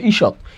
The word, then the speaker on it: ঈষৎ: এখন একটু আসি, এখানে লেখা আছে খণ্ডত্ব থাকলে তার উচ্চারণে সবসময় হয় তহসন্ত। খণ্ডত্ব থাকলে সবসময় এর উচ্চারণ কি হবে? তহসন্ত। কি হবে? তহসন্ত। তাহলে আমরা লিখলাম তহসন্ত। ঈষৎ, কি লিখলাম? ঈষৎ।